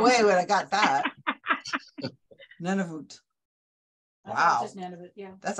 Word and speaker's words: Nunavut: dangerous places was not in Plymouth, but in Nanarivoot, Canada.